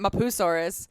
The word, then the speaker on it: Mapusaurus: way you it's spelled emphasized mop mapusaurus not mapusaurus it's my poo it's like someone going my poo hey child that's my poo it's almost like borat saying my poo and but then there's